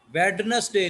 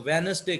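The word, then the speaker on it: Wednesday: वेडनेसडे नहीं कहना इसको, वेनसडे कहते हैं अंग्रेज। तो डी जो है वो खामोश है, साइलेंट है।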